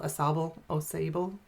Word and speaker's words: Sauble: That is not the Saugeen River, it's the old, how do you say it, old Sauble channel?